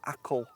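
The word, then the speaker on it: Achill: our way over to what I think is pronounced as akle Island uh which has some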